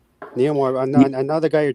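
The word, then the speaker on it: Namor: No, Neilmore. I'm literally saying it. That's his name. It's spelled N A M O R. That's how that's how it says supposedly.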